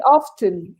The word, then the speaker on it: often: often i say yeah i think you can say both ways you can say with a silent t or pronounce t i say often but i've heard many native speakers say often often i often do